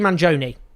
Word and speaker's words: Mangione: at to Luigi M's violent act Manon Luigi Manon let's get the pronunciation right a lot of discussion has focused